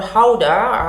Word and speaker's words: Gouda: This is Gouda or Gouda, as the Dutch friends pronounce it, and some grated smoked regato actually.